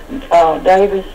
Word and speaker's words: Davies: He pronounces it in England, Adam Davis, but what I was